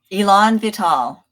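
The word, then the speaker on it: élan vital: do you say that Elon vital so it's two French two French words I put together it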